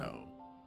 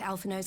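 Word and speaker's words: Alphinaud: Alphino. I would never have guessed that's how you pronounce it.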